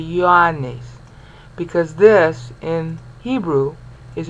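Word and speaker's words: Ἰωάννης: Like this should be E-O-A-N-E-S, if you were classical Greek. Okay? But the Apostle John, even no matter how you were raised, you say Ioannes, because this in Hebrew is a yo sound.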